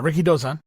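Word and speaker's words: Rikidōzan: you say his name Rick Ricky dozen yeah Ricky dozan and he is the The Babe Ruth of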